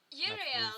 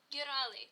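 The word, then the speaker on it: Euryale: I'm pronouncing that terribly. Is then called... Wait, hang on. The third Gorgon sister. The third Gorgon sister. I've got it spelled correctly, but I can't pronounce it. Yurali, thank you.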